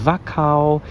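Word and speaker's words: Wachau: a river cruise we are now entering the vacao valley and thank goodness I looked up how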